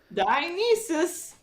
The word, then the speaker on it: Dionysus: Dionysus.